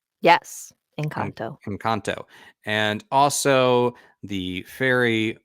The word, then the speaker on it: Engkanto: Actually, so we're going to talk about, yeah, let's see if I'm pronouncing this right. Engkanto? Yes, En- Engkanto.